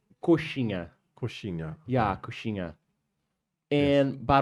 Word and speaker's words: coxinha: COX Yeah, corsina? coxinha.